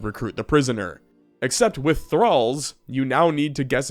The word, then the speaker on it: Thrall: Thrall, Like wall, but with a Modern Warfare hit marker sound at the beginning.